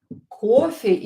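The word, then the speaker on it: кофе: Coffee is coffee. In Russian, coffee. And the stress is on the first syllable.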